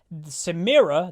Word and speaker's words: Samira: himself uh going over samira the new champion and i did get the pronunciation right because that's what she says in the cinematic uh we're gonna go